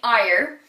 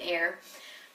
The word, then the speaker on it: Eyre: I most often pronounce it as Jane Eyre. I don't know why, but you know, it's a thing you learned, and now I'm trying to unlearn it and say Jane Eyre.